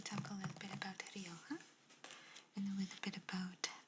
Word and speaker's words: Rioja: Rioja, because the J is pronounced with an H in Spain. So, let's see. They talk a little bit about Rioja and a little bit about the wines there, which is nice.